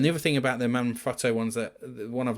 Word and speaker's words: Manfrotto: If I could choose tripods any time of the day, it would always be Manfrotto, or Manfrotto as Americans say it.